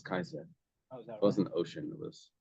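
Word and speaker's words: Caesar: a but the old the old Latin C was always a hard C they didn't have cisero they had Kiko it wasn't Cesar it was Kaiser it wasn't ocean it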